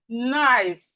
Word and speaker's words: knife: beginning of a word, whenever we have K and N at the beginning of a word, the K is silent. And we have it in words like knife.